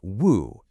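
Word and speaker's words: 無: It's pronounced woo, and it's at the heart of all those paradoxical statements.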